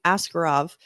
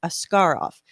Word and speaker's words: Askarov: he first came over we were all saying askarov and and we were corrected that the the correct pronunciation the Russian pronunciation is ascar off we're like oh okay understood got it so